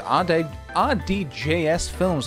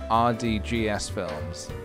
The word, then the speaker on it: RDJS Films: Thank you very much to RDJS Films for the 3 months, dude. 3 months. OMG, heck, great. Also, PJ, my ath is pronounced RDJ's Films, like Robert Downey Jr.'s, but not RDGS Films.